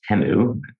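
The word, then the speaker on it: Temu: My favorite commercial from the Super Bowl was the uh the Teeu commercial for a couple reasons. One, I didn't realize it's actually pronounced Tenu.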